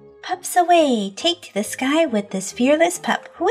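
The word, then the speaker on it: Skye: Her name's not Psyche, it's Sky. S-K-Y-E.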